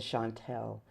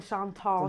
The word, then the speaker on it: Chantal: So now let's talk about the film, The Chantal. And I know I'm saying it wrong. Say it for me. The Chantal Show.